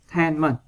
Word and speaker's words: entertainment: Rồi, còn câu D các bạn đọc là entertainment, entertainment vần 3.